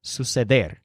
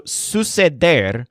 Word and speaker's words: suceder: The word suceder stresses der, suceder, but there's a secondary syllable, sus, which sounds kind of like Zeus. So suceder means to happen.